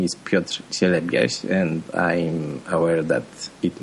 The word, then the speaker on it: Piotr Cielebias: My name is Piotr Cielebias, and I'm aware that it may be hard to pronounce by people speaking in English, but also